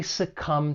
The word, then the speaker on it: succumb: When pronouncing this verb, it has two syllables and the stress is on that second syllable. Succumb. And just keep in mind there is a silent b at the end of the verb to succumb.